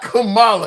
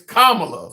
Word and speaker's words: Kamala: It's not Kamala, it's Kamla. Like the like a comma punctuation, comma la.